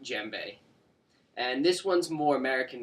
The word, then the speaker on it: djembe: here is called a gembe and it's spelled d-j-e-m-b-e the D is actually silent even though some people will pronounce it the gembe it's actually just pronounced jembe and this one's more